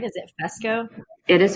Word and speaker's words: Fesko: Is it Fesko? It is Fesko. That's correct. I get Fresco. I'm like, where did you get that R from?